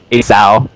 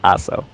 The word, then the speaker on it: Asou: He used to think that his name was pronounced Aso and Asao, so it's actually Aso.